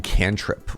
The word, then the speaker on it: cantrip: I had a friend who showed up at D&D and pronounced it can't rip, not cantrip, and we all giggled.